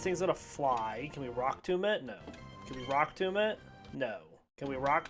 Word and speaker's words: Rock Tomb: It rhymes with doom.